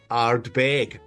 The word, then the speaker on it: Ardbeg: Bill Lumston the last time and his way of pronouncing arb bag arbag which I honestly had never heard anyone else say but I love it anyway.